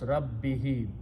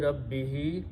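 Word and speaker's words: رَبِّهِ: For proper pronunciation we also pronounce this as a kasra, not a dhamma. So it becomes rabbihi. Ayati rabbihi.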